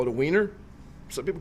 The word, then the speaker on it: Wiener: Actually, if you pronounce it in in German, the W takes the V sound. Therefore, it's a vener.